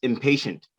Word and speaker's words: impatient: there go on okay um next one is impatient impatient hey remember that uh t-i-e is pronounced like a show this patient is patient